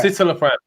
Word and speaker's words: citalopram: Citalopram. Sounds like sit on a That's front.